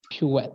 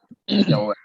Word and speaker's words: pirouette: Pirouette. A How do you pirouette. spell that? Pirouette. My I'll God. write it. Yep. Pirouette.